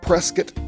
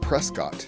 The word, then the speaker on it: Prescott: we are going to start our out in Prescot Arizona that's right it's pronounced presc not Prescott in fact the other day a very cool